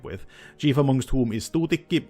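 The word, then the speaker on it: Tuutikki: Chief amongst whom is Tutiki. Yes, that's the Finnish pronunciation.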